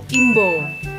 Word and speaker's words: imba: Ternyata kromo inggilnya adalah imbo. Tulisannya imba, tapi bacanya imbo, bener ya?